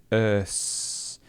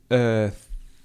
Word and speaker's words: earth: Again, did you hear Kevin's pronunciation of the sound? He said whiz and he said earth. With and earth.